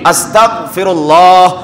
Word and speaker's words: আস্তাগফিরুল্লাহ: ক্ষেত্রে যুক্ত করার ক্ষেত্রে খুব হুশিয়ারের সাথে উচ্চারণ করতে হবে আস্তাগফিরুল্লাহ তারপরে গইন বা বাংলাতে গ খ গ দিয়ে আস্তাগফিরুল্লাহ আস্তাগফিরুল্লাহ এভাবে পড়তে হবে আস্তাগফিরুল্লাহ করলে গুনাহ হবে ভুল হবে তাহলে এক নাম্বার আমল রমজানের